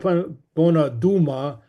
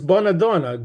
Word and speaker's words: Bonadona: his name wrong um it's not bonad Duma it's bonadona good lady and um